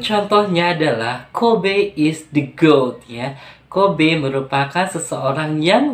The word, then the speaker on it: GOAT: Pronounce exactly like the animal. Jadi diucapkannya yaitu sama seperti GOAT untuk binatang, seperti itu ya. GOAT should only be used